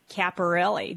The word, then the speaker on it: Caporale: is going to be one of them caparelli did I say it right sir you got